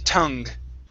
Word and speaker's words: tongue: instead of tongue okay it's an uh sound tu tung good all right nice